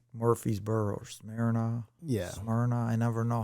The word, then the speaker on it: Smyrna: Smyrna. I never know how to pronounce. Yeah, that's Smyrna.